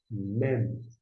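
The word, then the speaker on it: מם: Temos aqui o mem. Mem. O mem corresponde ao nosso M de mamãe, por exemplo, no início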